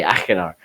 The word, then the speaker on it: Achenar: ] achenar sorry i just learned how to pronounce that today by achenar so so but it was just an incredibly